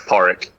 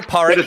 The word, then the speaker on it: Podrick: says in my handle it's pronounced porrick yeah no but i don't read that stuff um oh hi porridge how are you and